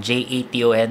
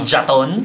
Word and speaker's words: Jon: Aha Learning Center at yung pangalan ko po ay J Ton Jon hindi haton haton hindi jaton jaton hindi jaton iba-ibang pronunciation yan pero ngayon Jon parang Jason pero may tea minsan may te rin na